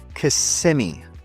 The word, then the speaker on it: Kissimmee: Locals say Kissimmee, not Kissimmee, like many visitors assume.